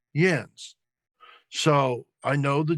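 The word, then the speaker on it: Jens: The J has a Y sound in German.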